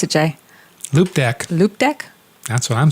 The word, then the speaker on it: Loupedeck: Okay, pronounce it, Jay. Loupedeck.